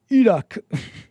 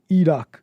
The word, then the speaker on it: Iraq: The I is pronounced like The The I is pronounced like an E in Iraq. And Iran and Iraq. Ear Eeron Eerock Sorry. Uh Eerock Eerock Uh Um You You think so, Maina?